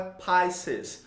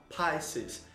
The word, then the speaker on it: Pisces: Gente, a pronúncia correta então é Pisces. Observe que esse izinho aí, ele pronuncia com som de A, Pisces.